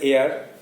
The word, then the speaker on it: heir: This child was দ্য হেয়ার টু the royal thrown. এই শিশুটি ছিল রাজ সিংহাসনের উত্তরাধিকারী। HEIR উচ্চারণটা হচ্ছে এয়ার, আর মাটা হচ্ছে উত্তরাধিকারী,